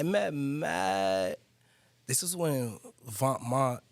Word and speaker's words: Vêtements: This is when Vêtements, Venoments, for those that don't know, but it's Vêtements, pronounced clothing in French.